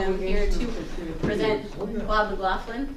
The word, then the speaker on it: McLaughlin: I am here to present Bob McLaughlin. Did I pronounce it correctly? You got it, McLaughlin, that's right. McLaughlin, Yep.